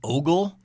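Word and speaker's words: Åberg: you know my but the first letter is an a with that weird Circle over the top of it so it's apparently pronounced as an O um and then hom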